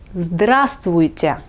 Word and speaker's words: здравствуйте: Et bonjour en russe, c'est здравствуйте. Здравствуйте. N'ayez pas peur de ce mot un peu long, prononcez-le quelques fois et vous allez vous y habituer.